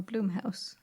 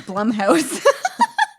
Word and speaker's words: Blumhouse: because you say jiff now i know it's blumhouse what's wrong with plum houses not bloom house how dare you i